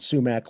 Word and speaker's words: Sumac: Emma was criticized, and Emma is spelled YMA here, and sumac like like the like poison oak.